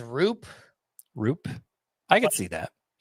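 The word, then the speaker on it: Roupp: Landon Raup is how it looks with the Giants, but is it not? His baseball reference says Roop.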